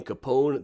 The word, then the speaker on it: Capone: to him he says he pronounces the name capone there's no e to it she asked him well